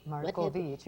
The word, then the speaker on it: Marcovicci: Marcovicci. What have- Marcovicci, she's so peachy.